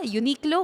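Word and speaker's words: Uniqlo: By the way, nako-confuse ako sa paano yung tamang pronunciation non kasi sabi unique low ba? Unique low o ano?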